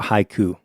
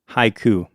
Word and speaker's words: haiku: Haiku, 2 syllables, right? Yep. In Japanese, they don't quite think of syllables as much as they do of those sounds that we're talking about. So haiku would be divided into 3 sounds, ha, I, and ku.